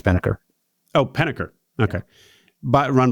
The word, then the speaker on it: Pennebaker: So ETA Circles, great ETA club run by Reed Pennebaker, I guess is how you pronounce Reed. I think it's Penneker.